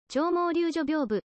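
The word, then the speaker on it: 鳥毛立女屏風: 竜所ビョーブ諸説ありますが長毛柳絮屏風と読みます先述の正倉院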